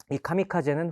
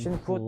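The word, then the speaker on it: 神風: 카미카제 부르지 않았습니다 아 일본에서는 한자를 읽을 때 음독과 훈독 있습니다이 카미카제는 훈독 이죠 그 뜻을 살려 갖고 카미가 신 카제가 바람 그니까 한자로 쓰면 신품입니다 신의 바람이라는 뜻이죠음 당시에는 이걸 음독으로 주로 신부라고 읽었습니다 그래서 신푸 특별 공격대 이렇게 읽었는데요 이건 역사적인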